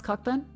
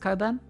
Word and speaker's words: Cockburn: Can you pronounce cockbun? Cockbun. Melbourne, Sydney, Brisbane, Adelaide, Perth, do Hobart, Darwin. And I think on that one for a second. Wrong. Cockburn's pronounced coburn.